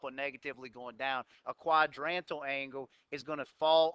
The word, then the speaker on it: quadrantal: something qualité called a quadrantal angle that's how you pronounce that word simple word pronounced even though it looks confusing when you look at it